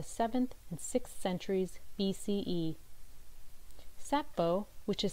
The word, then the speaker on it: Sappho: Century Greek writer named Achilles tatius or by sappho a celebrated ancient Greek lyric poet who lived between the 7th and 6th centuries BCE sappho which is spelled s-a-p-p-h-o and pronounced sappho is especially noted for her poetry